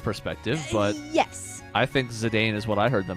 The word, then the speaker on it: Zidane: Like, Zidane was another one. Literally everyone on Zidane, the... Zidane. Zidane is apparently the pronunciation.